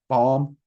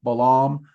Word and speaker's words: Balam: Now, there's a lot of people who pronounce this one a lot of different ways. Some Balam, some Balam. Balam's the one I've heard the most, and it's the one I use for two reasons.